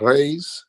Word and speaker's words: Reis: guest hey I'm Reese actually it's Rey my family is from Cav Island in Portugal and Americans we say Reese but they would correct me R that's right